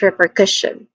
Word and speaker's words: repercussion: Again, pronunciation wise, we start with re, which has a long E vowel sound. Next to that is per, which has a schwa sound.